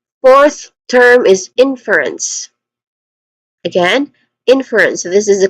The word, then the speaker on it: inference: Uh pronunciation wise, we have three distinct sounds. inference starting with n which is a short e vowel sound followed by fur which has a schwa sound and anotherwa sound for ants again ants.